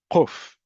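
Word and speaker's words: קוף: But kuf, if you come from communities, particularly in the Middle East, you would pronounce it as quf, much farther back in the throat.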